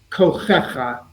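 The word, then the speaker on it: כֹּחֶכָה: This is called a meteg, and it gives us a clue as to the accent of the word. This word is pronounced kochecha. Together, all kochecha.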